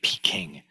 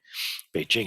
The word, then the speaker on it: Beijing: they used to say Peking as opposed to Beijing Beijing is much much closer to um how an actual a Chinese person would pronounce the name of that City P King is um